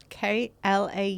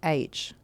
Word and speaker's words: Clough: Klau? No. Clough.